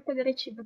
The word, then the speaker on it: federativa: No, don't palatalize it. What is palatalized? The T. It's a T, it's not a CH.